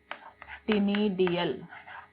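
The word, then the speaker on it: ctenidia: इन Mollusca, Mollusca में लिखो either through body surface, either through body surface और टिनिडियल gills. इसके पास एक स्पेशल गिल्स हैं जिन्हें टिनिडिया कहते हैं। सी is silent, either through body surface और टिनिडियल गिल्स।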